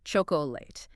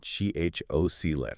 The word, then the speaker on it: chocolate: Many people pronounce it chocolate, emphasizing the last part, but it should be lit with a very short middle syllable. CHOC-let.